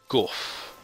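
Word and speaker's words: Gough: Gorf, okay. I have been pronouncing it wrong. Gorf.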